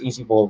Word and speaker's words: Eazie Boi: All right, that's Easy Ball Retention, and it's spelled Eazie Boi.